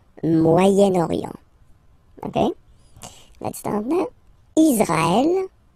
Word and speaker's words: Moyen-Orient: So it's interesting here because normally if you would have only this word here, you would pronounce it moyen, moyen, okay? But then as you get this vowel after, okay, you get to make the liaison between the two.